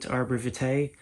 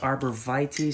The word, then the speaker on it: arborvitae: And some people pronounce it Arborvitae, some people Arborvitae, but it's spelled Arborvitae, so that's how I'm pronouncing it. You know, it comes from Latin, and they don't teach